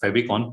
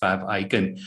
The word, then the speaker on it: favicon: if pronounced uh properly a lot of people pronounce it as a favicon but it is fab icon so uh logo is very simple and straightforward